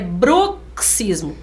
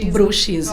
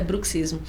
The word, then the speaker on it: bruxismo: do Ranger 200 ali é bruxismo do mesmo jeito de táxi isso foi novidade até pra gente com som de KS porque muitos profissionais falam bruxismo olha só bruxismo eh